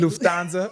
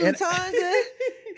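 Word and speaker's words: Lufthansa: But I love how you say I say Lufansza. I know. I cannot say it like that at all. That's the German in me, you know, born in Germany. I be like Luansa. Lutanza. I'm still probably not saying it right, too. Like Luanza. But yeah, that's that's just my way of saying it.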